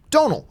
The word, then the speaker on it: Domhnall: said it like this think of like audio tonal right tonal like a tone tonal now just with a deep Donal okay I always I